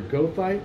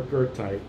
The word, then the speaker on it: goethite: It is commonly pronounced as either goethite or goethite, the latter in honor of its namesake.